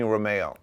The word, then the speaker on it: Rumeo: on impact podcast Romeo just like the car right just like the car I have to actually SP it incorrectly so it's spelled Ru Meo now but that's only